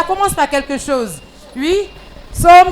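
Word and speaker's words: psaumes: Alors, somme s'écrit P. S. A. U. M. E. S. C'est comme ça on écrit somme.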